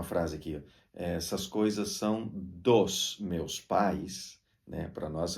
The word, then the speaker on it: dos: no espanhol não acontece é tudo dos não é dois como no português é dos d o s tem